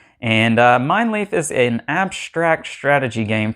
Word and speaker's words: Mijnlieff: at it on the table alright i have mine leaf from xv games on the table here and that is how you pronounce this game mine leaf and mine leaf is an abstract strategy game for two players